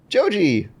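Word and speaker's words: ジョージ: Joji.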